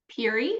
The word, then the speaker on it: Piri: Is it Piri or Piri? Piri, like cheery Piri.